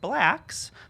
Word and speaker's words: BLKS: Ain't No Mo extends ahead of its first preview at the Public, and Blacks, but it's spelled BLKS, as announced full casting at the MCC Theater.